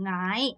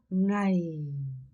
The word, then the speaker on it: ngày: ngày 내려가야 돼요. 이런 ngày 아니고 ngày. ngày 내리세요. 네? ngày. 여러분 I 아니고 ngày 이렇게 발음하셔야 돼요.